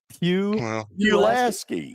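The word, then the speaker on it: Pulaski: Well, how do how do you how do you say Pilaski? Pilaski. It's not Pilaski. Oh, are you kidding me? Pew. Pilaski. Who says? Me. I'm from right there next to it.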